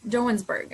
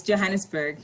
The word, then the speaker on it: Johannesburg: like um no sorry you're in in johann jonesburg i'm not sure i'm saying it correctly yes yes johannesburg johannesburg okay south africa and you're a business